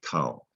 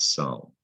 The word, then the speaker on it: culmination: That when C is followed by U, it's guarantee it's going to be a hard C sound. It's going to sound like a K, cull, not sul.